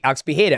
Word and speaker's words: Pereira: He goes, "Pea, that's how you say it in the Portuguese way." And I'm like, "Alex Bea." So, I'll always say Alex Peda.